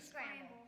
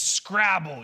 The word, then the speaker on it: Scrabble: It's Scrabble. You were really close. Scrabble. I mispronounce a lot of stuff. That's okay. You were really close. Really close. Scramble. That says Scrabble. There's no M in there.